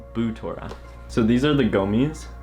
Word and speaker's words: Butora: Now, I used to think it was pronounced Butora, and like many of my friends also thought it was pronounced like that, but after looking on their website, it's actually pronounced Boutora.